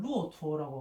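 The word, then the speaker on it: 骆驼: 봐, 예를 들면 이 타자는 그 중국 발음으로는 루오투어라고 하거든.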